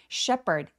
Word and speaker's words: shepherd: 여기서는 p 발음으로 h 발음이 묵음됩니다. Sheperd sh는 입술 쭉 내밀고 쉐로 소리 또렷하게 발음해 주세요.